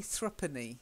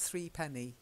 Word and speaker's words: threepenny: then this next one I know it says Threepenny but we actually say thrupenny not Threepenny thrupenny right yeah you really